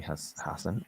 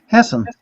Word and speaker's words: Hassan: So I would humbly suggest to Senator Maggie Hassan. And how do you pronounce her name? Hassan.